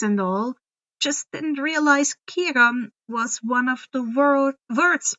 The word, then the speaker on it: Chiron: C's in the early days were all K sounds. But as time passed, language changed and it changed to a more S-like sound.